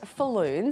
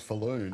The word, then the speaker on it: Falloon: And I love that your name's Falloon. I know. Because it rhymes with balloon.